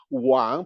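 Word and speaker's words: 王: Okay, because in the word Wang, pronounced at the third tone, you have on the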